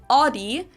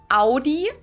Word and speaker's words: Audi: brands one is adi most americans that i know pronounce it like i just said it audi in german we say audi oh yeah we say